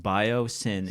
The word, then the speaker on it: Biosyn: Which is fitting because it's pronounced bio-sin, and they're committing an unholy sin on the earth.